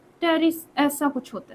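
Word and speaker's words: Pteris: terrace कैसा होता है टेरिस ऐसा कुछ होता है ठीक है तो टेरिस को कभी आप निकाल के देखना टेरिस यह वाला टेरेस नहीं जो बोल रही यह वाला टेस टेरिस प साइलेंट तो टेस का कभी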